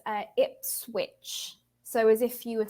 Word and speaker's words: Ipswich: so yes it's very very strange it's uh Ipswich so as if you were saying you kind of pronounce it like that I see in the